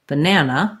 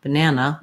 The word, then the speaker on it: banana: So look at that, three letter A's, right? But we only say the black cat vowel in that middle syllable. That's the stressed syllable, banana, banana. I hold that longer and it has a clear vowel. These other two letter A's are just like this one in above. They actually sound like schwa.